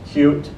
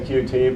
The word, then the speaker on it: Qt: he mentioned in QT it's actually pronounced cute but I say QT because looks like QT